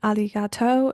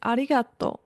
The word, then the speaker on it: ありがとう: extensively in the classrooms Japanese like Chinese has a pitch accent meaning it's not spoken in a completely flat tone for example to say the word thank you in Japanese it's not aligato it's aligato if you don't pay